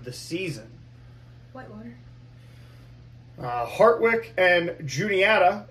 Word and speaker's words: Juniata: Hartwick and Juniata, or as you tried to pronounce it, Uniata, because we threw some Spanish in there, which was cool.